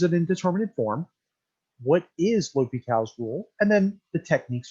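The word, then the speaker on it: L'Hôpital's: series we're going to take a look at l'hopital's not la la hospital's rule but pronounced l'hopital's rule and l'hopital's rule is going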